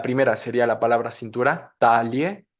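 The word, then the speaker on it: Taille: está si no la mandamos a la segunda sílaba la primera sería la palabra cintura talie talie y la segunda sería la palabra medalla Igual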